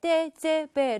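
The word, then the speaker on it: TGV: 처럼 보이죠 4 회 자 그럼 예 프랑스의 떼제베 를 소개해드리겠습니다 영어식 발음으로는 kz 무위가 되겠는데 이거 제품 함 썰어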